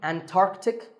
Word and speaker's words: Antarctic: The C in the middle is not silent. Similarly, Antarctic and Antarctica. That's the name of the region at the South Pole.